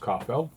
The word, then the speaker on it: Caufield: So Cole Caufield, it's actually pronounced Caufield.